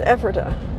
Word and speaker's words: Ephrata: lady at the hotel last night she says ephrata so go figure i was way off i'm